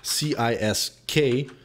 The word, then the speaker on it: Cisk: And it's not supposed to be because it's C-I-S-K, but it's supposed to be pronounced Cisk.